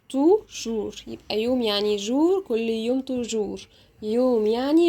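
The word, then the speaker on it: jour: لو عندي كده حرف ال او او او هنطقه ازاي جوه الكلمات او او زي كلمه يوم يعني لو عايزه اقول يوم هقول جور جور يبقى يعني ايه يوم جور يبقى يوم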